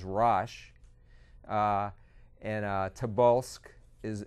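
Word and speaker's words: Rosh: which in the Bible in the King James the the pronunciation is rash uh and uh tabul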